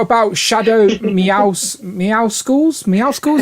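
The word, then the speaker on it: Meowscles: shadow meows meow schools meow schools is how you say that it's supposed to be mussels oh yeah oh i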